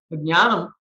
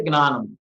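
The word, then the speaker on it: ज्ञानम्: Nowadays, you see how even if they say jnanam, they say gnanam.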